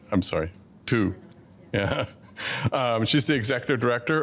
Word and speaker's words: Tu: I never pronounce that right. I'm sorry. Tu.